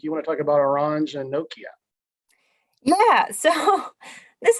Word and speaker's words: Orange: So in this case, I know you say Orange, it's very fancy, but Orange and Nokia. The French pronunciation, right?